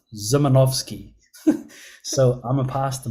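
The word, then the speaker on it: Szymanowski: guess ladies and gentlemen is this name is pronounced zimanovski so I'm gonna pass the microphone over now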